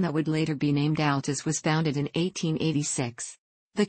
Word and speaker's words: Altus: Altus, pronounced Altus, is a city in the county seat in Jackson County, Oklahoma, United States.